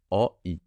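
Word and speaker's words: 오이: Donc le rond est muet, donc on fait O. Et si on va sur le deuxième carré, commence par un rond, position initiale, donc muet, et un I.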